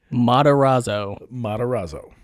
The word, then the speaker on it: Matarazzo: How you pronounce her last name? Matarazzo.